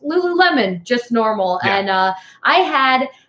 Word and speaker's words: Lululemon: years until somebody let me know that it's pronounced Lululemon just normal and I had at your friend